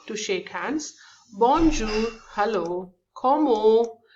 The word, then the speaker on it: comment: Comment, it is take the pronunciation as como, and then the T we don't pronounce here.